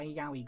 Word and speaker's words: Yaoi: There’s a lot here even if we do not have our Yaoi much to everyone's disgust goggles on.